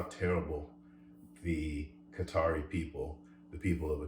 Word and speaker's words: Qatar: But anyway, the country is spelled Qatar, and it's pronounced Qatar, because that's how the people that live there pronounce it, by the way.